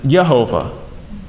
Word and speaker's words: Jehovah: And we hear that name a lot in our churches, some more than others, but Jehovah, which actually more accurately pronounces Yehovah.